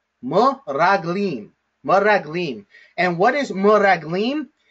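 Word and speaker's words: מְרַגְּלִים: So the way that we read this word, the way that we pronounce this word, is m-raglim, m-raglim, m-raglim.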